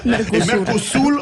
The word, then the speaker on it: Mercosur: Mais je me demande parfois si vous n'aimez pas ces sujets parce que ça vous permet de montrer votre prononciation éblouissante du Mercosur. Mercosur. C'est vrai. Mercosur en portugais.